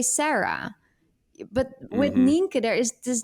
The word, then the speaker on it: Nienke: my Dutch name so my real name is ninka and this name is impossible to pronounce internationally like even if I would like